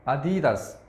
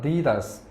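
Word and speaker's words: adidas: 겠는데요 아까 이야기했던 어 아디다스 이거 정말 한국에서 제가 여러분들한테 는데 10년 넘게 해봤지만 이걸 그대로 발음한 사람 아무도 없었습니다 우리는 아디다스 인데 영어로는 디 다 스 자 그 다음 한국도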